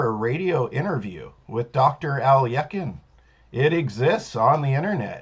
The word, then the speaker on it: Alekhine: for a couple decades or so, I was pronouncing it as it would be read. Maybe if you're reading a book in English, and that I was mispronouncing it as Alekhine, but it is Alekhine.